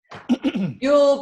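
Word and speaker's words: Yull: yeah y-u-l-l two l's yule brown it sounds like christmas it's not foo-poos with brown's gas and it's not you'll like christmas it's a name yield brown okay or hydroxy that's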